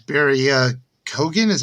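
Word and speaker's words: Keoghan: but uh i i did like barry uh kogan is how you say his last name is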